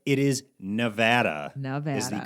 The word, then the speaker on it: Nevada: still in his Instagram videos he's calling it Nevada and it's bothering me I know you called you called him out for it and not only him but other people who call it Nevada right it is Nevada is the correct way to pronounce our state's